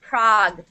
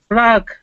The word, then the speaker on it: Prague: Budapest looks like uh PL city Prague it's pronounced Prague Prague Prague everybody knows where Prague is yes Prague